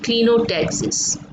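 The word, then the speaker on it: clinotaxis: Okay, আচ্ছা, এরপরে হচ্ছে ক্লিনোট্যাক্সিস বা অনেক সময় এটাকে ক্লাইনো বলা যায়, কিন্তু সঠিক উচ্চারণটা হচ্ছে ক্লিনোট্যাক্সিস। আচ্ছা, এখানে কি বলা হয়েছে?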